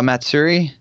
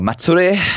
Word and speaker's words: Matsuri: big trip up to Q our Matsuri or Matsuri as AG would like to be pronounced oh yeah that's it I say like a white person and I should just